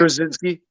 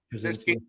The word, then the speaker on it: Krasinski: How do you pronounce his last name? Krasinski. Krasinski.